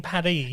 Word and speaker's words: Paris: everyone's pronouncing it wrong it's actually supposed to be pronounced in a french accent so that it rhymes so it's emily in paddy himalayan probably enemy and